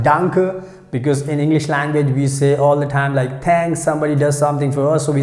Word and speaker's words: danke: That's how we have to pronounce danke.